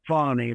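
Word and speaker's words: Fani: see where fatty and you're supposed to pronounce it fonny very fascina but FY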